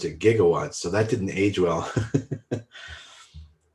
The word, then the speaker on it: gigawatts: the in the movie back to the future jiggawatts but we pronounce it pretty much now we pronounce it gigawatts so that didn't age well should have been